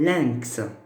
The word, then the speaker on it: lynx: On peut aussi trouver YN, comme lynx. Parce que ça se prononce 1, n'est-ce pas?